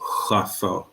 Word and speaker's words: chauffeur: In this word, it's much like, because it's from French, we actually pronounce it in the back of our mouth. So it's chauffeur.